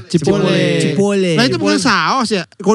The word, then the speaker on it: Chipotle: Iya, Chipotle. Bacanya Cipole katanya. Cipolle.